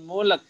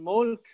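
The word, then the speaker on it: الْمُلْكَ: An atahullahul mulak. Mulak gitu. Mulak-mulak itu yang sering terjadi ya. Maka kemudian bacanya apa? Mimnya dihentakkan di ya. An atahullahul mulk ya. Mulk. Jadi terakhirnya mulk.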